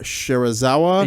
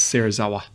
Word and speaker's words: Serizawa: Ishiro Shirazawa. You definitely it's butchered his Watanabe. name. Yeah. Yeah, Watanabe and it's Serizawa.